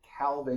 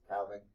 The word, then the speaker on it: calving: So calving, calving, if you want to pronounce the L, is the for is the process of iceberg formation. Okay. uh as in like cows giving birth is cowing.